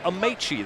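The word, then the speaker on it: Amaechi: Wants to go with Amichi the rest of the way.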